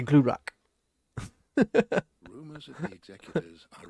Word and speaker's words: Glurak: Glurak. That's how I'm saying it correctly, by the way, which sounds more intimidating.